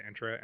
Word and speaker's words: Entra: directory for were leveraging entra ID or intra ID I got to get the real pronunciation of that is it entra or intra we I would say it's entra um but let's say